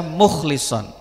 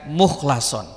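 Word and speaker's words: مُخْلَصًا: Terus kata mukhlason itu memang ada yang membaca mukhlison, tapi mayoritas ulama membacanya dengan mukhlason.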